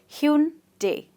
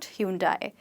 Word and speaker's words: Hyundai: So you'd call it Hyundai, Hyundai, or Hyundai if you say it very quickly, and not Hyundai.